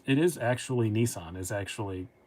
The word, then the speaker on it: Nissan: is actually how you say it in japan it is nissan my japanese sister told me that i know it's correct they do say nissan over there it's too big so our stupid american pronunciation is actually correct if he gets mad